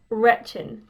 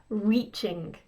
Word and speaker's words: reaching: the short air sound she says retching retching in English means to be sick okay she didn't want to say that she wanted to say reaching with the nice long e sound so she needed to make her lips smile and say reaching e reaching not retching I'll see you